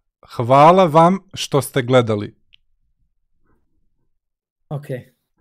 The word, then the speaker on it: hvala vam: So it's it's like hvala vam što ste gledali. Okay. Havala. Say that again. Oh my God! It's hvala vam.